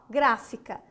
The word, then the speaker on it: gráfica: é uma proparoxítona ó gráfica primeira segunda terceira a palavra gráfica ó grafica ó gra fica primeira segunda terceira terceira sílaba de trás para frente forte tônica ela é uma proparoxítona bom vamos respirar agora